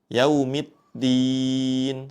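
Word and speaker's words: يوم الدين: Pada kata ini hati-hati saat mengucapkan huruf dal bertasydid. Jangan sampai seperti huruf ta sehingga bacaannya seperti ini. Yaumiddin ya. Di awalnya seperti ee ada pengucapan huruf ta. Yaumiddin seperti itu. Namun kita sempurnakan pengucapannya dengan huruf dal.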